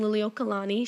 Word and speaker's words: Liliuokalani: um the queen at the time is queen liliuokalani she is the like nailed how to pronounce that good for you she is the